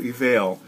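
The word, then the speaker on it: Eviel: it's called faux eval it's spelled e-v-i-e-l evil but like a veil evail and uh the house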